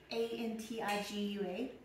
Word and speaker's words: Antigua: I remember when my sister went there on vacation, and we thought it was Antigua, but then she got there, and she's like, oh, it's actually Antigua.